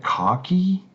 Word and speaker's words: khaki: Um, is he I thought he was saying cocky. I'm assuming he's meaning khaki. Well, well, I would say khaki, I guess. Um, the khaki dress. Um, I think it's just a pronunciation difference how I pronounce khaki.